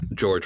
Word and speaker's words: Georg: getting that alliance or george without a e and looking at the uh katakana it's pronounced georg nice gay ogre prime